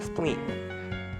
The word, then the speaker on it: spline: need to do is add the spleen or spline i call it spleen because that's how i pronounce it here in canada um once you click